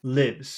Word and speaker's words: lives: the lips, Okay, now you listen, just think about the duration of the sound. Here's number one, lives. Here's number two, leaves.